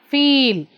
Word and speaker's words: feel: See, fill, feel. We take less time here and we take more time here.